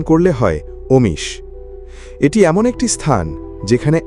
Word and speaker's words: Omis: বাংলায় উচ্চারণ করলে হয় অমিস।